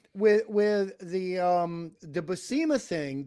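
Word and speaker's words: Buscema: with the um the basima thing the basema to pronounce it the way Stan Lee or funky Flashman pronounced it um you know what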